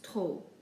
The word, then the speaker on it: trop: For example, the first one, we pronounce it trop, not trop. We basically just ignore the P when we pronounce it, just giving us trop.